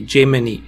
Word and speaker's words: Gemini: So, yes, I must remember to pronounce it properly. Gemini.